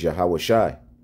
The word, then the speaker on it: Yahawashi: that the the the the way to pronounce that name in the Hebrew is yahawashi you see so when